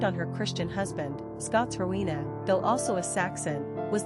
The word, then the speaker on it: Rowena: Quick facts on Rowena. Gender, girl. Origin, Celtic. Number of syllables, 3.